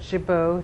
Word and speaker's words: Giboux: I can't pronounce it. Giboux, G-I-B-O-U-X.